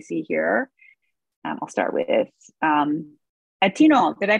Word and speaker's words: Atieno: I'll start with Atino. Did I pronounce it correctly? Your first name, last name, and what gives your organization, what gives you hope? All right, my name is Atieno.